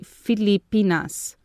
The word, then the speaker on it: Filipinas: chair at you you yesterday you pronounced it even better in the modern style but now it's proper to pronounce it like an ancient feli i mean filipinas remember that i am